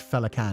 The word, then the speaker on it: Féileacán: The full name is pronounced as Féileacán and Cú, and that's a bastardization of Old Irish, so...